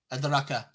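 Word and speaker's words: أدراك: So ra, you don't say adaraka, adaraka. You don't say it like that. You have the small alif. You have to make the mad. You have to extend it.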